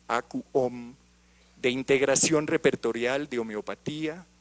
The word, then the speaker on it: AcuOm: homotoxicología, y desarrolló el software AcuOm, así lo pronunciamos, AcuOm, de integración repertorial de homeopatía y acupuntura integradas.